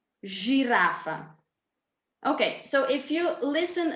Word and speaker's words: žirafa: So C, center, Č, čokolada, J, yogurt, S, sandwich, Š, šport, Z, zebra, Ž, žirafa.